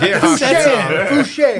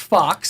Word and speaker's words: Fuchs: And there was a young lady whose last name was spelled Fuchs. Now imagine my panic. Fouché. When I'm like, what do I do here? Turns out it's pronounced Fox.